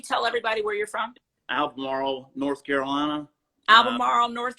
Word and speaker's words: Albemarle: Albemarle, North Carolina. Uh, Albemarle, North Carolina. Am I pronouncing Albemarle? It's a yes, mouthful. Albemarle.